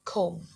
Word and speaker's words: comb: It's not about the accent, but it's not comb, but comb.